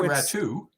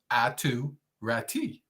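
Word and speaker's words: Aatu Räty: hell is that and it's at to rati it's no rat too no it is uh Finnish pronunciation and it is yeah somebody else said that and I was like I think they're pronouncing it wrong yeah I think the whole world is pronouncing this name wrong it's ATU rati you would think so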